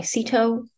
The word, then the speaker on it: Sito: um my name is Sito last name rhymes with despacito I'm an assistant professor